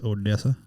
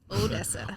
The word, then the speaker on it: Odessa: It's Odessa. Odessa.